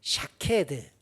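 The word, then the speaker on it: שקד: 샤케드. 여러분은 아몬드를 지금 히브리어로 발음한 겁니다. 아몬드의 히브리어 발음이 샤케드인데 이 글자가 일깨운다, 각성한다, 깨어있게 한다 라는 뜻하고 글자가 똑같아요.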